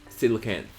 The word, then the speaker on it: coelacanth: Artichoke says it's pronounced as Silicant.